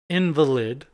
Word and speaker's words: invalid: Invalid is what it said, but they said invalid. Invalid. But it's spelled like invalid.